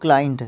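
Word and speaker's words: client: लिखना है कस्टमर और क्लाइंट सबसे पहली बात तो सी एल आई ई एन टी यह स्लाइट नहीं होता साइलेंट नहीं होता यह होता है क्लाइंट और नाउन वर्ड हमारा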